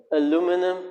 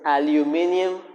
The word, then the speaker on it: aluminium: Like aluminum, you call it aluminum. The correct term is aluminium.